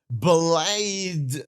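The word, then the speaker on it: Blaidd: I I got it I I guess so blide not BL not BL BL oh for God's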